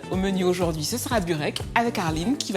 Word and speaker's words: burek: Alors dis-moi, on dit bureg, ? On dit burek.